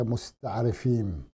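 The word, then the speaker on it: מסתערבים: العرب هؤلاء المستعربون الاسرائيليون تلفظ بالعبريه مستعر فين وهذه يعني تسميه اعطيت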